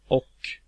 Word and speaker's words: och: The Swedish word och, meaning and, has a H, even though it's pronounced och.